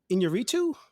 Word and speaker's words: Iñárritu: reviewing 2015's from Alejandro Iñárritu. Did I say that right, Ellie? Close enough, maybe? It's close enough. Yeah. Pretty not bad. You have to roll your R's.